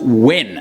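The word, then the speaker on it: Nguyen: Minh and nuyang pronounce actually it's not even new Yen I thought it was pronounced new Yen all my life but it's actually pronounced win literally I just learned that when I was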